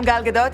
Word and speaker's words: Gal Gadot: Hi, I'm Gal Gadot and I'm hosting SNL.